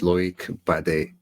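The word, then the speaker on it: Loïc Badé: So you want to give us the actual French pronunciation there, Eddie, if I say his name, so everybody can get on board?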